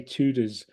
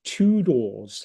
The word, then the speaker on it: Tudors: my pronunciation of say I used to say tudas and this young woman said it's tudors like that and and so I